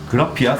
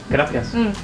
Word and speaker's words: Gracias: 그라피아스? 아니, Gracias.